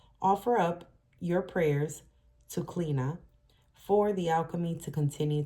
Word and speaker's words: Chliodhna: Clina, which is spelled Chliodhna, it's pronounced Clina, was the Celtic goddess